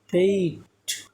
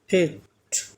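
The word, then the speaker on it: fate: এবং last letter আছে ই তাহলে এটা হচ্ছে উচ্চারণ কি হবে আচ্ছা এটার বাংলা অর্থ বলি এটার বাংলা অর্থ হচ্ছে ভাগ্য ফেইট ফেইট হ্যাঁ ফে ইট ফেইট নট ফেট ফে ইট হ্যাঁ তাহলে এই যে ই আছে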